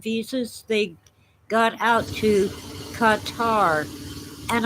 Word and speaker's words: Qatar: they got out to qatar and i'm told that it's pronounced gutter but i don't like